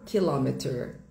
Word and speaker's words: kilometer: O stressed syllable. A sílaba tônica é em la kilometer. Kilometer. Kilometer. Sílaba tônica. Stress syllable em la. No inglês britânico. O stress syllable, a sílaba tônica, sílaba forte vai mudar. Fica kilometer. Kilometer kilometer kilometer. Ok. Vai mudar um pouquinho.